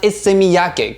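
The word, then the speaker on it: Issey Miyake: Next one here, we have one from Ise Miyake, and it's actually pronounced Ise Miyake, guys.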